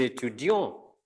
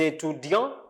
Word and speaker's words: étudiants: Notice here I didn't pronounce T, but here I pronounce it. Des étudiants, des étudiantes.